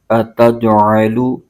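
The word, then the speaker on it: أَتَجْعَلُ: اتج، عین زبر ع، اتجع، لام پیش لو، اتجعلو، قالو اتجعلو، فا کے نیچے زیر ہے اور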